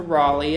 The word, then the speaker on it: Raleigh: We're not sure an exact reason why, but Moses Mordecai, at some point when he moved to Raleigh and married into the Lane family, changed pronunciation from Mordecai to Mordecai.